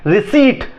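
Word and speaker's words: receipt: रिसीट, रिसीट लोग रिसिप्ट बोलते हैं, रिसीट होता है, ठीक है, बॉल होता है।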